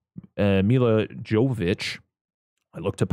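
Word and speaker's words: Milla Jovovich: And, they got, the thing is like, Mila Jovovich, I looked up how to say her name.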